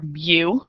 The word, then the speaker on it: mu: It's pronounced mu, like Mew, Mewtwo, Pokemon.